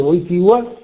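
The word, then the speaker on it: Wojtyła: di Giovanni Paolo I Carol votia oltre pronunciarsi a quindi una parola non è una L simile a quella dell'italiano bello eccetera 1000 è molto differente velare tanto che passa uso vocale e viene scritta l con un taglio quanto quanto riguarda la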